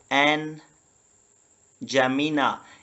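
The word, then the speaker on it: N'Djamena: यह है एन जमीना। यहां पे डी जो है ना साइलेंट है।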